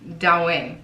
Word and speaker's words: Douyin: so it is what it is, but it is spelled D-O-U-Y-I-N, Douyin.